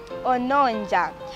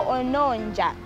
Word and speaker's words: ononja: Ononja. Ononja is spelled as O.